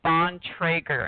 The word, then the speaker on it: Bontrager: pronounced a trigger the last name is pronounced on Traeger and it's 100% old order amish anyone who